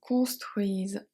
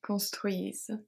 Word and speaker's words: construisent: So here ENT is always silent at the end, so we pronounce the S as a Z. It's another story. So mes cousins construisent, construisent.